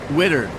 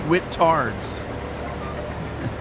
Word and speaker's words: Whittard: I've been told I say it wrong. I call it Wittard's. And then people will correct me and say it's Whittards. I just call it Wittard. And they call it Whittard.